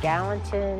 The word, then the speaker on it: Gallatin: we're at natural bridge falls recreation area in gallatin i believe that's how you say it national